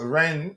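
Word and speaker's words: Rennes: Chelsea I in talks with French club Ren. Is that how you pronounce Ren? What's the correct pronunciation? Ren.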